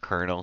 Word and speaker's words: colonel: this type of Kernel which I'll never understand why that's pronounced kernel but the debug items